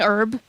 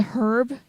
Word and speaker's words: herb: when I was younger I pronounced it herb you know actually pronouncing the H but when I did that my mom was like no you pronoun herb not herb and so I just